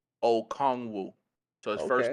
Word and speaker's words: Okongwu: The pronunciation is Onyiku Okongwu.